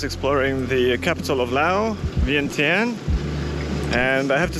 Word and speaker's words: Vientiane: Vientiane, or Vientiane if you want to pronounce it like the locals, is the capital and largest city of Laos.